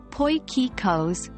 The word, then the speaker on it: potjiekos: so let's get started potjiekos pronounced as poikikos is a traditional South